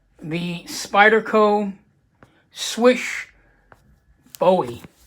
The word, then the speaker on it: Slysz: basically called the Spyderco swish bowie sorry try to go swish-swish-swish s wi s h that is a correct pronunciation of Marcin swishes name we have all